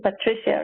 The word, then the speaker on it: Patricia: partner at Trinity Ventures I think I pronounced back to here a little bit in a Latin format because I'm constantly hanging out with all these people from Europe and Latin America and so forth but Patricia's American so I think you use of the pronunciation Patricia right right Patricia that's right well welcome I love